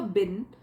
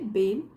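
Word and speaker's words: been: की आई had never बीन a book worm इसको बीन नहीं बोलेंगे बीन आई had never बीन छोटी ई की मात्रा डाल के फिर बोलेंगे आई हैड नेवर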